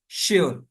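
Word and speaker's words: sure: شائی Sharmila, shine چمک۔ کچھ ایسے الفاظ بھی ہیں جن میں ایس کے ساتھ ایچ نہیں ہے پھر بھی اس کا تلفظ شا ہوتا ہے، جیسے شیور، یہ بھی کل آئی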